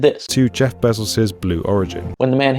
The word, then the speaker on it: Bezos: Well, that same thing is happening in Bezos, but doubled, because both syllables in his own pronunciation are both diphthongs, A-O. And now some British accents are taking both of those diphthongs and turning them both into monophthongs, E-A.